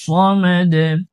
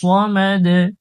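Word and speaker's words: الصمد: আল্লাহ সমাদ আল্লাহুস সামাদ আল্লাহ এটাও মোটা করব আল্লাহুস সামাদ এখানে সদ উচ্চারণ করব অনেকে আল্লাহুস সামাদ সিন উচ্চারণ করে থাকে সন হবে না আল্লাহুস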